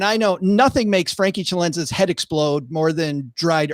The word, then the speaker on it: Celenza: I like that pronunciation of my last name. Tell me if we can't. Well, I got to do the Italian. I got to, bring it. Celenza.